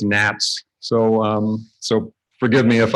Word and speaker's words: NHATS: I call it an hats but that's wrong it's Nats so so forgive me